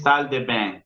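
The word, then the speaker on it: salles de bain: Solamente se ve esa S, no se pronuncia.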